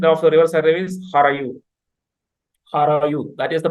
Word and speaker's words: Harayu: the river Sarayu is Harayu. Harayu. That is the pronunciation of the river. Just like Saraswati, they call it Harahvaiti. So the river Sarayu, in the Western pronunciation, it is Harayu.